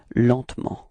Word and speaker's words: lentement: Lentement. Okay. And then, well, usually in France we don't really pronounce this E between T and M, so we get this pronunciation lentement.